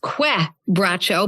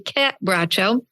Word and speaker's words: Quebracho: So then we come to some information on Quebracho, It looks like it's pronounced Quebracho, but it's actually Quebracho. It's a Portuguese word, given that it's from Argentina.